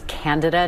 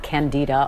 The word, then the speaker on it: Candida: of Japan in 2009 by the way it's candida not candida a lot of people mispronounce that but you know that class of